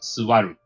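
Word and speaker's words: 座る: it's also correct because it's like when you pronounce it quickly like a silent you so suvaru by the time my hectic lunch break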